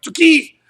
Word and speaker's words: tsuki: eight nine and ten that's pronounced ski so I mean really in Japanese it's like two ki but you know we just say ski so ski shomenuchi tsuki